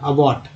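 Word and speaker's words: abbot: एबॉट, हालांकि यहाँ आ ए दोनों उच्चारण होता है, लेकिन उच्चारण थोड़ा सा अबॉट, अबॉट करते हैं, अबॉट, एबॉट नहीं अबॉट।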